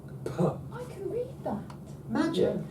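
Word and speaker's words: φ: Puh, that's brilliant.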